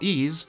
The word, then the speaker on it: Ys: while ease which I don't know why I kept pronouncing it as e in the last video I'm an idiot has maintained a cult